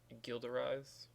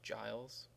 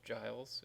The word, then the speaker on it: Gilles: If you're French, you say Gilles, or if you're American or you speak American English, it's Giles. I hear a lot of people pronounce this funky. It's Giles if you're, speaking English.